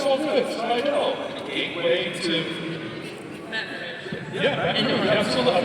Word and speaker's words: Slidell: Oh, don't say it like Slidell. It's all good. Slidell.